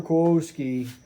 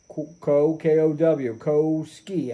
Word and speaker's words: Kowsky: Kowsky, may not be pronouncing his name right, but it's K-O-W, Kowsky, S-K-Y, Kowsky.